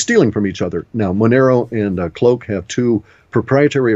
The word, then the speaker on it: Monero: Okay, and a Monero, spell that. Monero, right. Those are good. Dash is good. M-O-N-E-R-O? Correct. As in like an Italianized version of the idea of money.